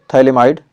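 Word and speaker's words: phthalimide: अगला है gravel Gabriel थैले माइड गैब्रियल थैले माइड रिएक्शन पीएच क्या है इसमें साइलेंट है तो थैले माइड रिएक्शन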